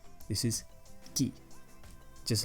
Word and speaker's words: qui: a Q and the you and you don't pronounce the you okay so this is not qui this is key just like the other one wasn't quite it